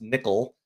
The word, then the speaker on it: NCCL: this what's called uh this term nccl it's pronounced nickel and you'll hear people